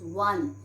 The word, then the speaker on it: one: We pronounce one, and one is starting with W.